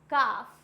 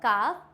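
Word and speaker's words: calf: हैं आगे बढ़ते हैं एफ से पहले होता है तो क्या होगा काफ हाफ यहां पे क्या है यहां पे एफ से जस्ट पहले दिया हुआ है इट मींस यहां पे भी एल साइलेंट होगा फॉर एग्जांपल काफ हाफ तो यहां पे एल को हम नहीं प्रोनाउंस करते हैं डन नेक्स्ट बढ़ते हैं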